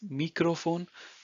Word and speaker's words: Mikrofon: So microphone is in German Mikrofon. Again, it's looks the same, but the spelling is different and also the pronunciation. So it's Mikrofon, das Mikrofon.